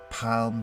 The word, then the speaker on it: palm: pronounce the L but I can assure you you do pronounce the L it's very soft but it is there palm tree there are around